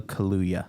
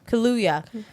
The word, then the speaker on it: Kaluuya: Daniel Kaluuya. Kaluuya. Like The guy Kahlua.